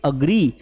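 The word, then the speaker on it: agree: इसको एग्री नहीं पढ़ना है, don't pronounce एग्री, इट्स अग्री। तो अकेले मैं सहमत नहीं हूं, आई डोंट अग्री।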